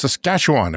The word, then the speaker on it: Saskatchewan: Province next to us it's Saskatchewan if you pronounce it correctly home of the oil